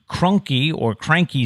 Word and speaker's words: Kroenke: Next on the list, at $10.54 billion, was Cranky Sports and Entertainment. It's spelled Kroenke.